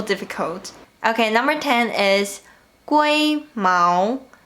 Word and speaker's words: 龜毛: This word comes from Taiwanese, where it is pronounced 龟毛. In Mandarin, it's 龟毛.